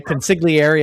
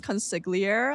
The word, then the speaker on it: consigliere: Okay, consigliere, I assume, is one. Yeah, like I thought it was pronounced consigliere. I didn't know that you say the re at the end, and then prelude and prelude.